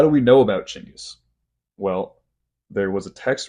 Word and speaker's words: Chinggis: Well, here's the first fact you're going to get, and it's not pronounced Genghis. The original pronunciation, the original Mongolian pronunciation, is Chinggis.